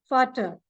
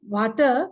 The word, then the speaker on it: Vater: Then for father, Vater. It is not Vater because V is pronounced as F in German.